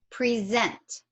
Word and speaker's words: present: had less stress, and I'm not really pronouncing that short E anymore. And that short E is now representing what I am actually pronouncing as this neutral schwa sound.